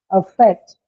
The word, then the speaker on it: affect: So you don't say affect when you use it as a noun, you say affect, right? So the first sound changes to the sound that you hear in the word cat, the t, a, and t, right?